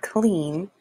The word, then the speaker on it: clean: In the word clean, two vowels, E and A, are walking side by side. Therefore, the first vowel, which is E, is the bossy vowel and says its name, E. The second vowel is silent. E, A together says E, clean.